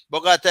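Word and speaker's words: Bogotá: Bogota. ah, The emphasis is on the last syllable.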